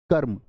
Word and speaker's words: कर्म: रेफ रूप है, और रेफ रूप का उच्चारण सदैव व्यंजन से पहले होगा, तो क्या बोलोगे? कर्म हो गया। क्या हो गया? कर्म हो गया, यही होगा कर्म। कर्म नहीं, रे पूरा होता तो बोलते कर्म, लेकिन अभी रे आधा